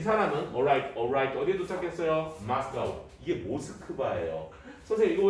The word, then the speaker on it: Moscow: 마스카우. 이게 모스크바예요. 선생님 이거 왜 마스카우인데 모스크바라고 하나요? 마스카우는 미국 애들이 영국 애들이 읽는 방법이고 자 러시아어로는 그 도시의 원래 이름이 모스크바의 발음이 가깝대요.